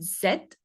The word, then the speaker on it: Z: And the last one is the the Z, which is pronounced zed. Zed. If you're familiar with the British English, it's the same.